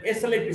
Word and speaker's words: slip: SLEEP, sleep, the vowel sound is little longer, and SLIP, slip, the vowel sound is shorter.